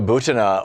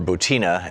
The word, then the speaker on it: Butina: Maria Butina, or Butina, I've heard it pronounced both ways, the young Russian who went to I believe it was Georgetown.